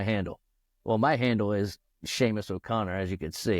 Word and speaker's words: Seamus: How do you say Seamus? Is it Seamus? Seamus. That's right.